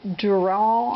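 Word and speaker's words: Durall: inch wood rule it's by Doral I believe is the way you pronounce that d-u-r-a-l-l a lot of people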